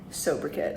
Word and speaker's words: sobriquet: Sobriquet.